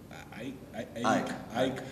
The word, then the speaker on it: AEK: How do you officially pronounce it? I want to make sure it's right. Ike.